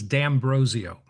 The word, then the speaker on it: D'Ambrosio: Yes, it's the correct pronunciation is D'Ambrosio, And but D'Ambrosio.